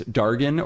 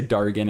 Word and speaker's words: Dargon: I did ask Ando if this is Dargon or Dargon because given the context it Dargon just feels like how the you know like Game of Thrones or something would pronounce it. But she said either way is fine. It is an intentional misspelling of dragon. So I'm going to go ahead and say Dargon.